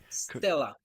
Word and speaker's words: stele: Stele? Is that how you say it? The statues. How do you say it? Stella.